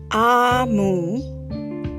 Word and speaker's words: Omu: note to the reader a Moo pronounced ah mu is the eighth book